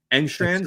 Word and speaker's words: Engstrand: I really like your offensive coordinator, that hiring there, Tanner Engstrand.